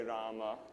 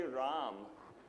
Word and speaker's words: Rama: translated from Sanskrit and in Sanskrit you pronounce the final are generally and even in toasted us for metrical for metrical purposes we say Rama IV Rama bundle nama Rama so that's just a matter of pronunciation but I don't I don't do that in the book I say ROM not Miriam bus yes